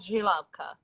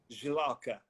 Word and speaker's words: Žilavka: We grow it in the southern part of country, and it's called Žilavka. Žilavka. Yes. JJXL. No, it's It's No, no. Can't pronounce it.